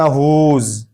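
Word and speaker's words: whose: पढ़ेंगे इसको पढ़ेंगे हु इसी तरह हुज हुज यहां भी डब्ल्यू के बाद एच है। एच के बाद मुत्तसलन ओ है। तो अब इसको डब्ल्यू को नहीं पढ़ेंगे।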